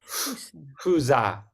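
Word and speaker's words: fuza: And the F is usually not, it's pronounced almost like it's like a blowing through the lips. It's Fusa.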